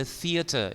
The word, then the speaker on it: theater: The movie, the radio, the theater. Ini pengucapannya hati-hati, sering salah. Teeter, teter, salah itu ya.